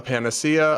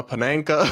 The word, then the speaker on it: panacea: Another person writes, you called a panacea a pananka the other day.